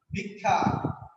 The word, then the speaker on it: ভিক্ষা: ক্ষুধা প্রশ্ন নাই ক্ষুধা কিন্তু যখন লিখছি ভিক্ষা, তখন লিখছি ভি আর ক, ভিক হর্ষচিহ্ন ক্ষয়কারে খা, ভিক্ষা। তাহলে ক ক হয়ে গেছে। তাহলে ক্ষীয়টা শব্দের প্রথমে থাকলে খ হয় আর শেষে থাকলে ক ক হয়।